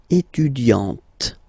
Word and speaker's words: étudiante: Okay, you don't really insist on the e, but you insist quite much on the t. Elle est étudiante. Il est assistant. So don't pronounce the final t here.